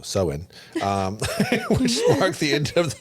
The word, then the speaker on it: Samhain: Halloween originated from the ancient Celtic festival of Samhain, pronounced way off how I said it. So Samhain, which marked the end of the harvest season and the beginning of the winter.